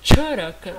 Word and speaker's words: Charaka: Donc, le Ch, c'est la prononciation qu'on donne quand on voit le C avec le E.